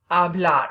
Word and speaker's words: habla: the two verbs blood habla remember that H is silent H is at the